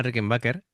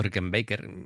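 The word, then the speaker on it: Rickenbacker: Eh, esta es una Rickenber o Ricken Baker, ya cada uno lo pronuncia como quiere. Es una guitarra preciosa también, ¿vale?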